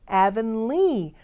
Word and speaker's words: Avonlea: 발음은 Avonlea, lee 부분을 강조를 해주시면 돼요.